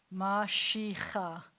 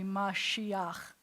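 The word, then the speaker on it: משיח: So you would want this to be said mashicha, but with this combination, it's going to be Mashiach, that you say the ah first.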